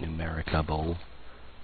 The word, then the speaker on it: Numericable: That's literally how you say it, Numericable.